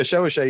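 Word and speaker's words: chevauchée: So yeah, chevauché, you pronounced it correctly.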